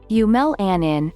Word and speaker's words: eumelanin: coat color eu melanin eu melanin pronounced yumel anin is the gene that